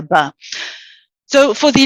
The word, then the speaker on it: بَ: Ba with a fatha, we pronounce it Ba, Ba, Ba. So the first thing to notice, one, it's a light letter. It sounds very light. Okay, as opposed to if I said Ba, which would be heavy, and that would be incorrect.